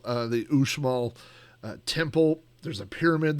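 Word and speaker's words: Uxmal: built uh this this we went to the usal that is spelled ux m a l uh the usal uh Temple there's a pyramid there there's there's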